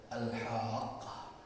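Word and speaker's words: الحاقة: Nah, salah satunya itu adalah Al-Haqqah. Dia dibaca dengan cara memanjangkan huruf ha, dan di qafnya itu ada tasydid yang menandakan kita harus membacanya dengan syiddah, ada penekanan di situ, memberikan arti dan makna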